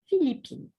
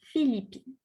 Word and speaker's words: Philippine: to say Je suis Philippine. Je suis Philippine. Okay. Je suis Philippine. You have to pronounce the E. You have to pronounce the N and the E, Philippines.